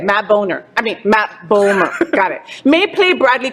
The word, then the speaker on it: Bomer: me all right matt boomer did i say his name right homer matt ballmer rhymes with bowler ah now i'll never forget it matt boner i mean matt bowmer got it may play